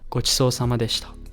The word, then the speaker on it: ごちそうさまでした: So one more time, say it with me so that you pronounce it right. Ready? Itadakimasu. Pretty good ramen. ごちそうさまでした.